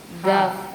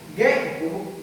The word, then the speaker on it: gave: Gave. Up. Tener, tenía. See. She. Shall. Saw. Saw. Saw. Saw. And give. Gave. Federal marino. Gao. Gave. Gay. The correct pronunciation is gave.